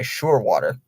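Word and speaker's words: Scheurwater: He does use his timeout, granted by Surewater. Weirdest name I've ever heard, Surewater. It's spelled Scheur and then water.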